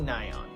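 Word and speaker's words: Nayeon: in that matter called i'm nion again don't at me that is literally how she says it's pronounced the first solar album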